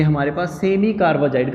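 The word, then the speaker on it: carbazide: ये हमारे पास semi कार्बाजाइड का फॉर्मूला है। यहाँ कार्बे ना लिखो, ए लगा लो, वैसे कार्बेजाइड ही बोला जाएगा प्रोनाउंसिएशन में।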